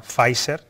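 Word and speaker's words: Pfizer: la empresa farmacéutica alemana facer que es como se pronuncia ahora dice que esta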